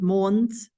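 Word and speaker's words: Måns: different spellings and pronunciations mons the round circle over the a will make it into a o sound and then Matt's Michael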